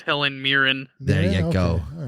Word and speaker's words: Helen Mirren: Helen Marin. I don't think so. I'm pretty sure it's Helen Mirren.